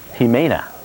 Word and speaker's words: Jimena: so we will now be watching tropical storm jimena it was a tropical depression early much post tropical storm tamina is the name you don't pronounce Jake he may not 12.1 north 130